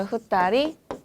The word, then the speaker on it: 二人: 이 세는 단위는요. 예외로 외우셔야 되는 파트인데요. 1명은 일본어로 어떻게 될까요? 그쵸, 히토리라고 읽고요. 2명은요. 그쵸, 후따리.